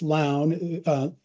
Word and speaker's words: Lown: So it's Lown, L-O-W-N, but pronounced like gown. And they look at a hospital's community benefits and their tax exemptions in dollars.